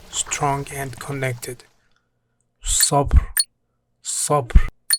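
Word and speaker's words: صبر: Sabr mean patience, pronounced with a strong emphatic S sound.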